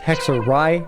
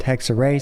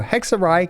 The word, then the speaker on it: Hexerei: Oh, apparently it's pronounced hexorai, not hexay. So, I apologize for the 100 times I've said that incorrectly. So, hexarai character.